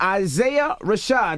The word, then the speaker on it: Isaiah Rashad: of Isaiah Rashad.